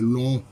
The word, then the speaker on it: Lonhon: frères de mes doigts voilà la bonne prononciation c'est long la question qui s'impose